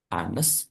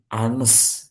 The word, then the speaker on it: honest: Karena bacanya bukan hones tapi anes gitu ya.